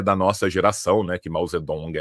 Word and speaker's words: Mao Zedong: A gente usa hoje a Mausedong porque ela vem do pinimin, né? Ela é mais próxima a pronúncia original no mandarim. Maltsetung é do Wes Giles.